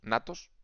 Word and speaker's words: agnatos: No, agnatos, natos, porque no se pronuncia la G, es como la P de psicólogo.